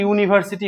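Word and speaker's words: university: দেখো, ইউনিভার্সিটি উচ্চারণ হচ্ছে ইউনিভার্সিটি হচ্ছে। দেখো, ইউ এর উচ্চারণ ইউ এর মতোই হচ্ছে।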